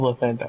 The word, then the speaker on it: Lathander: The most popular god of the sun is Lathander How do you or spell that? Lathander. Oh, Lathander, okay.